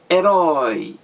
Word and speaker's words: herói: herói do sílabas é herói qual é a sílaba mais forte é a última grite herói herói a sílaba mais forte a última da palavra se é a última da palavra então essa palavra é oxítona porque a sílaba mais forte é a última da palavra herói então se usa esse